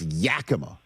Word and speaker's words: Yakima: I know it's Yakima, Washington, okay?